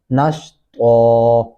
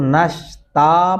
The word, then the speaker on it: نشطا: جیسا کہ نشطا، اس کو نشتا پڑھیں گے تو یہ غلط ہوگا.